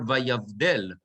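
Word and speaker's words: וַיַּבְדֵּל: Okay, so it's vayavdel. It's not vayavdel. Right? It's vayavdel. V.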